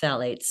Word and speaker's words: phthalates: Well, It's spelled weird. It's got a PH and then a TH. Yeah. So you go, oh, wait, how do you do that? But I've always heard it pronounced phthalates. Phthalates, yeah. There's a lot of silent letters in there.